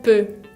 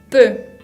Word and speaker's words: peu: Bien, esa combinación de E con U se pronuncia exactamente de la misma manera, como esa E cerrada, E. Por ejemplo, la palabra peu, que significa poco, peu.